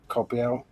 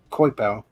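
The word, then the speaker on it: Coipel: jen bartel spider punk number one by olivier kopiel koipel i always mispronounce his name radiant red number two by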